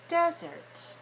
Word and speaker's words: desert: we can say that the syllable stress code of this word desert is to dash one two dash one means the word has two syllables and it's longer clearer higher louder on the first syllable so desert right desert